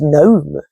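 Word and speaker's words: Noem: I want to say her name's Gnome. Not with a G though, not like God known.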